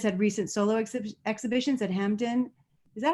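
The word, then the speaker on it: Hampden: He has had recent solo exhibitions at Hampton. Is that how you say it? Hampton? Hampton, yeah.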